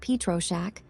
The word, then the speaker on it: Pietroschek: Copyright Michael Pietroschek. Pronounced Pietroschek.